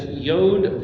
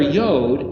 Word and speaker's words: Yod: So if you take the letter Yod, if phonetically it's pronounced as a Y, but placement-wise, the 10th